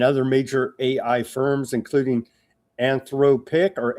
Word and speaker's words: Anthropic: CEO Sam Alman has suggested that OpenAI and other major AI firms including Anthropic or Anthropoc, how you got to teach me how to produce how to pronounce that Recus.